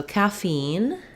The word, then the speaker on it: caffeine: word in the morning so caffeine has second syllable stress so the fiend syllable has a clear vowel and it's longer e i and i